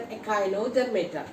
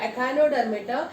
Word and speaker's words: Echinodermata: And the last phylum in an invertebrates is an Echinodermata. Let me pronounce once again, Echinodermata.